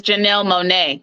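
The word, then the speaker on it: Janelle Monáe: saying her name wrong how do you say it again there is a Jana IO and then there's Janelle Monae Janelle mon Jan Janelle Janelle Monae my bad but anyways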